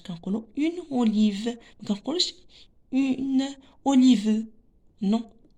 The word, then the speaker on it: olive: La quatrième image, c'est olive. Une olive. Olive. Donc, la syllabe qui convient, c'est ve.